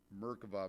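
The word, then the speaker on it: מרכבה: It's pronounced, if you say it in Hebrew, Merkava, mysticism, the word literally means throne or chariot, or throne chariot.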